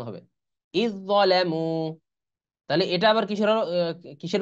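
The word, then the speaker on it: إذ ظلموا: আর ইদ যালামু, এই যে এই দালের উচ্চারণ কিন্তু আসবে না, এটা লেখায় আসবে কিন্তু উচ্চারণে আসবে না। আলিফ আলিফ দাল যে ইজ, দর উচ্চারণ হবে, ইদ যালামু।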